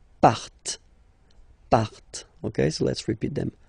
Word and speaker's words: partent: last persons, il, elle, partent, remember, classic ending, E, N, T, but then you don't pronounce them, partent, okay, so let's repeat